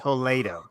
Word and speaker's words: Toledo: it is toled in Spain and it is pronounced toled oh there you go correct okay educational podcast